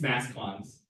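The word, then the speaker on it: mascons: Yeah, so you think it's French, right? Maybe. It's mass cons. And it stands for mass concentration.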